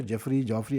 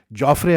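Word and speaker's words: Jofra: सही point out किया, मैं हमेशा जॉफरी ऐसे का, उसका सही नाम जो है ना, इंग्लैंड का जो है अपना बच्चा जॉफ्रे आर्चर है, इज प्रोनाउंस एज जॉफ्रे, ठीक।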